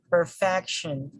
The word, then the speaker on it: perfection: this word perfection perfection perfection ends with this with the suffix sean so since again the the syllable preceded by the subjection is fact so the stress falls here we say perfection perfection and then do not